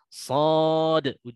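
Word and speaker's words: ص: Seperti yang telah kami peringatkan sebelumnya tentang cara membacanya, "shad" diberi qalqalah di akhir, "s o d" edarti diqalqalah kubra "kan" shod, jadi begitulah.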